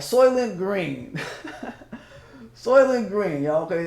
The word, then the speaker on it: Soylent: In a world where a company named the SOYLENT Corporation is SOYLENT, spelled like soy, S-O-Y, and then lent, like, I'm thinking like lentils or something like that.